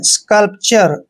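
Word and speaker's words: sculpture: यू आर ई दोस्तों एस का उच्चारण स करते और सी का उच्चारण हमने क करना है और यहां पर य का उच्चारण के रूप में आएगा ऐसे और एल को आधा ल पढ़ते हैं और पी को प पढ़ना है टी य आर ई को हम चर पढ़ते हैं स्कल्पचर दोस्तों हमें यह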